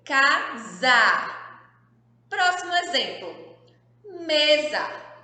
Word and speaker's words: casa: aqui é uma casa casa mas a palavra casa era se escreve com a letra s tá olha só ué se ele fica com som de z quando ele tá no meio das vogais e essa palavra as